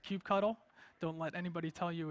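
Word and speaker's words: kubectl: all the way on the left is called Cube cuddle don't let anybody tell you it's pronounced differently it's called Cube cuddle so that's the architecture which we went over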